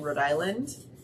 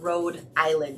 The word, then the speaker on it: Rhode Island: mom was living in Rhode Island and that's how they say it it's not Rhode Island it's Rhode Island like New Orleans it it's New Orleans not New Orleans okay now that we've